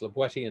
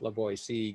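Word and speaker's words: La Boétie: for um and also explained this to be pronounced labuetti and not labor c given when and where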